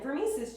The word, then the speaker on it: Vermise: that's just saying oh this is from vermise's Channel and yes that is how you pronounce my name if you didn't know already so yeah this is